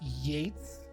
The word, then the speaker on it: Yeats: Sorry to be obnoxious, but it's definitely pronounced Yates. I know it's spelled Yeats, but I swear.